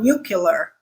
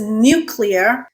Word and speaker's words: nuclear: We use the word clear all the time without saying killer, right? We never say killer instead of clear. So why does nuclear become nuclear? This is a hard one to figure out. But folks, it is nuclear.